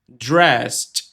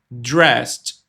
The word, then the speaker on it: dressed: Drest. E esse som não é um som de ed, é um som de um tquinho, ó. Dressed.